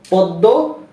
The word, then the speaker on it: পদ্ম: যেমন স্মরণ স্মৃতি শ্মশান দ্বিতীয় নিয়ম ছিল যে যদি কোন শব্দের মধ্যে বা শেষে ম ফলা ব্যবহৃত হয় তাহলে যেই বর্ণটির সাথে ম ফলা যুক্ত হলো সেটার উচ্চারণ দুইবার হবে যেমন পদ্ম আত্ম বিস্ময় তাই না আর তৃতীয়